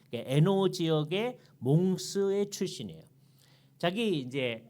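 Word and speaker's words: Hainaut: iut 고렇게 써 놓고 이게 불어 발음이 때문에 노라고 발음을 합니다 에노 지역의 몽스의 출신이에요 자기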